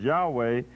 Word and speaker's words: Yahweh: consonants of this word that the pronunciation is in ancient times was yahweh is concluded from the transcriptions in the early christian fathers so that word according